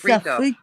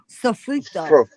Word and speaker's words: sofrito: But there's another one that she was talking about, and I say it wrong. It's Sofrito. sofrito.